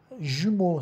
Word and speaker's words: jumeaux: Jumeaux são gêmeos, o X não se pronuncia.